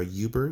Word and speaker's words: Uber: of growth marketing for Uber or Uber is how it's pronounced he has quite a